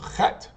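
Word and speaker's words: חית: And remember, Chet, right here, you're going to pronounce it from the back of your throat. It's almost like you're scratching your throat as you're saying it. And it's an H sound. So Chet.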